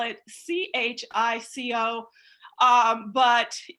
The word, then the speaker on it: Chico: happens to spell it c-h-i-c-o um but it's all the same family and uh we pronounce it chico so chico like you're